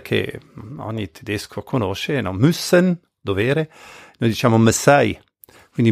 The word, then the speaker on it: müssen: Müssen, dovere, noi diciamo Messai. Quindi müssen in tedesco c'è l'accento sulla prima vocale, noi in ladino di